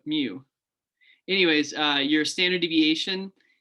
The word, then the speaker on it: mu: for the population and that's pronounced they give something weird here but mu so i don't know about miu but mu anyways uh your standard